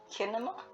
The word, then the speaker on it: Kinema: Like cinema, but Kinema, Kinema Probably.